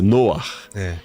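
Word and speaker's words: נֹחַ: Até a pronúncia, Noah.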